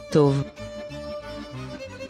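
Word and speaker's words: טוב: This is an example where the letter vav is pronounced as the vowel O.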